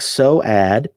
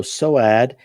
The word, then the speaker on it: Soad: It's pronounced like so-ad. Okay, so so-ad.